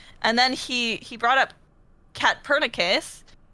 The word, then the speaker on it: Katpurnicus: And then I came up with the PUR instead of POR to be like, oh, purr like a cat. Oh, Yes. and so thus I became KATPURNICUS, which a lot of